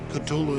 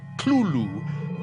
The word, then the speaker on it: Cthulhu: tells a colleague, well, it's really meant to be 2 syllables. You're supposed to put your tongue at the roof of your mouth and cough it out like Cthulhu.